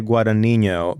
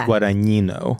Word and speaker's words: Guadagnino: Anyway, I used to say Guadagnino, but it's Guadagnino.